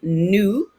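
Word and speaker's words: nous: others that are talking we is new it rhymes with voo we're not going to pronounce those s's and then there are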